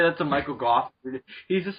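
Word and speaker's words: Gough: Or Goff, however you pronounce his name. Goff. Get it right, Dylan.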